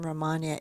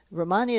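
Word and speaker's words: Rehmannia: of the by the way I didn't mention Romania eight Romania eight you can get in pill form Romania is spelled r-e-h-m-a-n-n-i-a and Romania eight is a herbal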